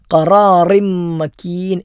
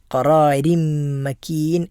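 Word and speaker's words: قَرَارٍ مَكِينٍ: അവിടെ റാഇന് കെസറാണ്. റാഇന് കെസർ വരുമ്പോൾ താഴെ കെസർ തൻവീനാകട്ടെ തൻവീനില്ലാത്തതാകട്ടെ എപ്പോഴൊക്കെ റായിന് കസറ് വരുന്നുണ്ടോ അപ്പോഴെല്ലാം തർക്കീഖ് അഥവാ സ്വരം കുറച്ച് എളുപ്പത്തിലാണ് അത് ഓതേണ്ടത്. രീ എന്ന ഉച്ചാരണമാണ് അവിടെ ഉണ്ടാകേണ്ടത്. ഖറാറിം മക്കീൻ എന്ന് ഓതിയാൽ ആ പാരായണം തെറ്റായ പാരായണമാണ്. ഖറാരിം മക്കീൻ എന്നാണ് നമ്മൾ ഓതേണ്ടത്. അപ്പോൾ ഈ കാര്യങ്ങൾ തജ്വീദിൻ്റെ നിയമങ്ങൾ നമ്മൾ ശ്രദ്ധിക്കേണ്ടതാണ്.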